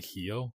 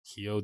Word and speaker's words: Rio: their RS are spell pronounced with a h so it's actually hio hio de Janeiro and uh